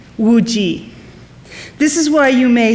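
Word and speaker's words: Zhao Wuji: In Mandarin, Zao's family name is pronounced Zhao, and his given name, Wu-Ji.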